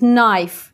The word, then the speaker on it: knife: места никакие necklace или нож будет knife ни в коем случае не к knife или никос никита женские